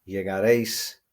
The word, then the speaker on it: llegaré: So it becomes llegaré, llegarás, llegará, llegaremos, llegaréis, llegarán. Don't forget the accents are there for you to stress on your pronunciation the last syllable, llegaré, llegarás. Okay?